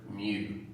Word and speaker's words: mu: lower cake lower cake lower case greek letter mu which looks like a u withdrawal fancy with